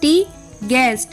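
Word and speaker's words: tongue: टी ए R guitar ji यू ई एस टी गै जी यू आई डी E guide ji यू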